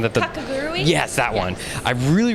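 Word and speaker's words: Kakegurui: Two that come to mind is the Kataguri, if I'm pronouncing that. Kakagurui?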